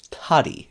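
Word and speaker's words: tady: I will also mention, though, tadi, which is spelled T-A-D-Y.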